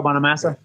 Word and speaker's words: Bonamassa: about joe bonham uh uh how do you pronounce his last name joe bonamassa yeah he's a badass guitarist he's great he's